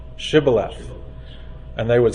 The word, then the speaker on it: Shibboleth: they knew they weren't Israelites because they couldn't pronounce that name Shibboleth and they would say Sibylline and they knew they weren't so similar with